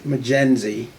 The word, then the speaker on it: Mjenzi: so the name is McKenzie the M is silent in the gen Z